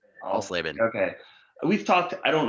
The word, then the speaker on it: Alsleben: If my wife was here, she would phonetically spell it out for you. Alsleben. Alsleben.